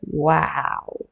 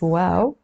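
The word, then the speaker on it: واو: And now we will do the letter wow. It's not like wow, like something that's wow. It's wow. But if you want to remember it, you can, just pronounce it wow.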